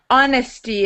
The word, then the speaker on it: honesty: I wanted to just point out your um your pronunciation on honesty. It's a silent silent h. Honesty. Honesty.